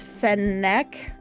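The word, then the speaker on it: فنك: 40 fennec fox the name Phoenix actually comes from Arab is our Arabic which is fan neck I I probably don't pronounce it right but it's f a n a k and I I just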